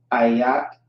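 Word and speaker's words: איך: Ayak is how you pronounce that.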